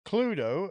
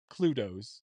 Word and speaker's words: Cluedo: So it says, Cluedo, known as Clue in North America, is a murder mystery game for 3 to 6 players, depending on the editions.